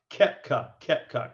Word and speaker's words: Koepka: Kepka.